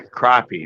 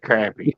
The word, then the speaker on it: crappie: crappy you know the fish the crappy yeah crappie not crappy crappy you say crappy I think you echoed